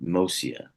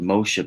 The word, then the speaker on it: Moccia: It's actually, it's pronounced a bunch of different ways, but my father preferred Mosia.